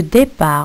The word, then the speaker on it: départ: Pour le départ, regardez comment le mot départ, il s'écrit avec un T à la fin. Alors le T ici, c'est une lettre muette.